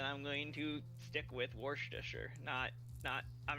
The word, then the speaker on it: Worcestershire: So, Worcestershire.